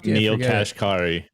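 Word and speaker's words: Neel Kashkari: Neil Kashkari.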